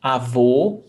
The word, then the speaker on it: avô: O avô, a avó. And this is something that students, I've realized that students struggle a lot with pronunciation. O, closed vowel sound, avô, that's masculine, grandfather.